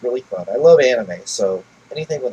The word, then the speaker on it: anime: It's not AH. It's just an A.